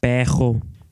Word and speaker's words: perro: The normally trilled R, represented by double R in writing, as well as by a single R at the beginning of words, is pronounced kh by many speakers.